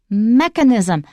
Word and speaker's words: mechanism: of a robot but the noun is different it is not mechanism and that's why the way almost every taiwanese says it the stress is on the first syllable mechanism mechanism mechanism do not